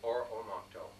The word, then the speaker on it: Oromocto: Now, the correct pronunciation is Oromocto. Oromocto.